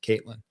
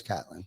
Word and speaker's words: Catlin: are watching right now, I apologize for Ty calling us Caitlin, but that's all right. No doubt. I do know a Jim Caitlin, spelled with a K though. Spelled the same exact way. Yeah. But they spell it with a K. I know it's Catlin.